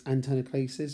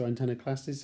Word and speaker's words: Antanaclasis: Hello and welcome to another Terms blast, and this time it's Antanaclasis or Antanaclasis, however you want to pronounce it there.